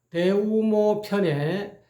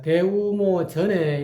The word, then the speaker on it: 대우모편: 그리고 그 서경 대우모 편에에 16신법이 나오는데 그거를 제가 대우모 전에 이렇게라고 발음을 했습니다. 대우모편 이렇게에 발음해야 되는데 대우모 전에 이렇게 어 발음한 것을 또한 대우모 편으로 전을 편으로 정정하게 되겠습니다. 이렇게 여러분에게이 강의한다 하더라도 잠깐잠깐이